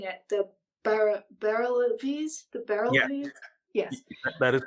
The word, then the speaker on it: Barelvis: Sufi inclined Islam, and correct me if I'm mispronouncing it, the Barelvis, yes, that is correct, the Barelvis.